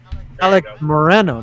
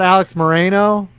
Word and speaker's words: Moreno: you said it right my last name alec moreno not alex moreno okay we never we've